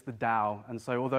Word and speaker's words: Dao: this thing called dowsing now it's spelt with the T it's kind of there's two spellings of it but in in Chinese is Daud Daud Yao or Dowd yeah and so it's the Dao and so although it's